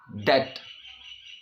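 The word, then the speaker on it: debt: ये है वर्ड, इसकी जो प्रोनाउंसिएशन होती है डेट। बी की साउंड नहीं आएगी, डेप्ट नहीं बोलेंगे।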